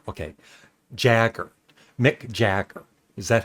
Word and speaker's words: Jagger: yeah that's another one it's Mick Jagger not Mick see I'm even saying